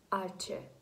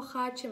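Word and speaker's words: hache: Далі в нас буква «аче». Ця буква в нас дуже особлива, вона бідна, навіть в своїй назві не вимовляється. «Аче». Так? Ми не кажемо «хаче», ми кажемо «аче».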